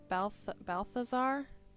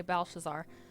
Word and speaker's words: Belshazzar: So this is Belshazzar. Balthazar? It's spelled really weird, but I think you say Belshazzar.